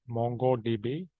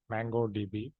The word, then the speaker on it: MongoDB: technology that is mongodb it should be pronounced as mongodb not mangodb already have created enough videos